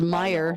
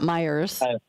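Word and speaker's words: Meijer: Well, everybody puts like it's not Aldi's, it's Aldi, it's Meyer, not Meyers.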